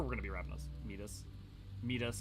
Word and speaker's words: Midas: Midas is correct Greek pronunciation, if that matters.